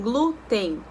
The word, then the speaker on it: glúten: que é a lembrança paroxitona a segunda sílabas de trás para frente que tem O que é que o fonema fica mais forte então é a sílaba tônica mais forte tão glúten glúten é com n